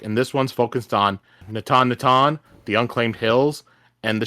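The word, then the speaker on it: Natanatan: And this one's focused on Natan. Natan, the unclaimed hills and the shattered plains.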